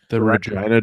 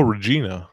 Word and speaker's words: Regina: I would take the Regina jerseys all day, but I am worried about the Regina jerseys. people coming and going, oh, Regina. And I'd say, no, Regina. It rhymes with fun.